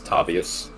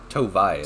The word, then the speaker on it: Tavius: It's Tavius. Okay, very good. I know it looks like Tovias, so it's not pronounced.